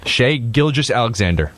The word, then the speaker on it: Shai Gilgeous-Alexander: How do you pronounce his last name? For sure. Shai Gilgeous-Alexander.